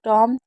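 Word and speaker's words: tomb: इसे प्लंबर इसे बॉम इसे टॉम एंड इसे क्रमबल इसे वम। तो हमेशा बी एम और बी होगा तो भी साइलेंट होगा।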